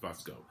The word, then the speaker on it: Fusco: I want to say I want to say that's how you pronounce his last name, is Fusco.